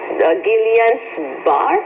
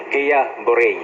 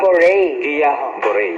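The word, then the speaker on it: Guillain-Barré: ba yung pronunciation nung gillian's bar or bar Pinoy tayo kaya dire-diretso e Barang guil bar pero guya Bore Ayon Bore Guia Bore so Dr Mario Can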